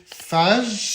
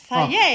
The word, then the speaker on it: Fage: We're using this, is it fage? Fage, it's pronounced. It Fage. says, no, faje, pronounced faye. Oh, it's faye. faye. Faye. So there you go. It's written phage. Yeah. But Okay. It's faye.